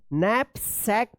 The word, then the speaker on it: knapsack: ठीक है ना, NKNAPSACK नैपसैक क्या है? नैपसैक पढ़ेंगे इसको। ठीक है, तो इस तरह से जो है आप के साइलेंट वाले वर्ड्स को पढ़िएगा।